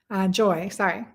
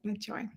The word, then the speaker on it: Joie: Joie in French, it's spelled joie. Like joie de vivre. So I said, joy.